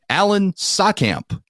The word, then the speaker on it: Saatkamp: Joining me tonight, coming from Normal, Illinois, Alan Saatkamp. Alan, welcome to the show. Thanks for having me on. And did I pronounce your name right?